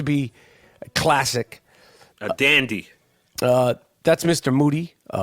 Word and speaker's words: Moody: moody last name rhymes with duty moody moody